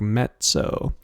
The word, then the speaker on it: mezzo: e z z o but sounds like met it almost sounds like mezzo uh like almost like there's a t in there but not quite um and then mezzo